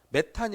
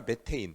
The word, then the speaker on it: 메테인: 이거랑 이거의 차이점이 뭔데요 이게 영어식 발음이에요 근데 요즘에 학계는요 미영 그러니까 미국에서 꽉 잡고 있기 때문에 학교에서 쓰는 모든 발음을 다 영어식으로 합니다 그래서 우리 여러분들 중에서도 어린 친구들은 정 교육과정에서 이렇게 배웠을 거야 메탄이 아니라 메테인 뭐 이런 식으로 알겠습니까 그래서 혹시